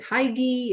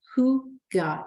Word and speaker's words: hygge: hygge first of all how do you say hygge people often say is it Heidi is it High Gigi is it Hoogie it's and so the way that it's basically spelled is sounds how it's spelled who God is a proper way to say it and it is a